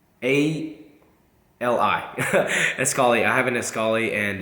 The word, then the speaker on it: Escali: as as scolly is um the way you spell it is e s c a l a Li escali I have an escali and it's kind of